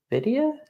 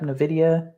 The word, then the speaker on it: Nvidia: like satellite work so we'll do them um Nidia is how you say it yep Nvidia is a great company um who else should